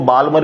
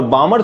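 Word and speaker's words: Balmer: है, कभी कभी इसको बालमर भी बोल देते हो, लेकिन एल साइलेंट होता है, करेक्ट नाम है बामर।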